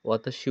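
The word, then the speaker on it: は: এটা মূলত জাপানিজে হা বর্ণ, কিন্তু এটা যখন আমরা টপিক মার্কার হিসেবে ব্যবহার করব তখন এটার উচ্চারণ করতে হবে ওয়া। তখন এটার উচ্চারণ হবে ওয়া।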